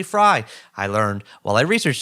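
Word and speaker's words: Frey: yeah chapter 25 with james fry f-r-e-y fry everyone says frame but it's actually fry i learned while i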